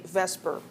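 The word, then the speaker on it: VSEPR: It's a little hard hard to pronounce and so we we tend to say vesper even though that's switching the E and the S but we know what we mean when we talk about that.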